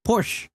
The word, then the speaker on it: Porsche: So, if you if you're struggling to say the word Porsche, just say Porsche.